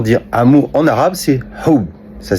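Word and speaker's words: حُبّ: Par contre, si vous connaissez bien l'arabe, vous savez que c'est le même mot que hab. Ça s'écrit pareil. Simplement que ça se prononce pas pareil.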